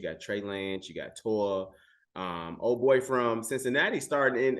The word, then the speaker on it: Tua: I think it, and I don't know if it's the Chicago accent or if I'm tripping, but I think it's you saying Toa and it's Tua.